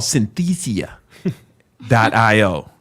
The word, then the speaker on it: Synthesia: how do you say this Synthesia sin it's called Synthesia dot IO all right let me get my